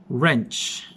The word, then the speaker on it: wrench: but spelled as rah-rah silent w you'll not pronounce w the beginning of each word example wrench wrench silent w wrench